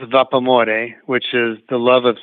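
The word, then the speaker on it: Vapamore: the how do I spell that well it's pronounced vapormore which is the love of steam in Italian and so if you say it in English like how the word looks it's vapa more so v-a-p-a-m-o-r-e so vapa more I was I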